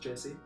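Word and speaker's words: Djesse: It's called Jesse. Okay. Spelled with a D. Oh, D at the front. It's not just D-E-S-S-E. It's like no, it's pronounced Jesse.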